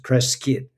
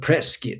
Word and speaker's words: Prescott: So, if you have the good fortune to be in Prescott, you pronounce it Preskitt, even though it's Prescott. It's spelled Prescott. But Preskitt, that's how the locals say it.